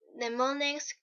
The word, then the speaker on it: mnemonics: Mnemonics, the initial M is silent, a clue of any